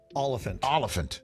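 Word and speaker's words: Olyphant: So it's Oliphant. Like elephant, but Oliphant.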